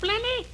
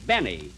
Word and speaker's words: Benny: is this please this is Jack Benny Jack blenny blenny no Benny Benny the L is silent in there now look we want you